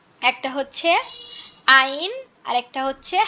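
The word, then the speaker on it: ع: হচ্ছে কি, একটা হচ্ছে আইন আর একটা হচ্ছে হা। আইন হা, আইন হা, এই 2টাই গলা চেপে উচ্চারণ হবে, খুবই গলা চেপে ফ্যাস ফ্যাস আওয়াজে উচ্চারণ হবে আইন হা।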